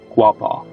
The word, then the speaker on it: Quapaw: In regards to the local Arkansas native tribe who shared stories of the living island in the river, it's pronounced Quapaw.